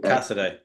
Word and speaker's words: Casadei: How do you pronounce his name? Is it Caesar? Casadei. Casadei.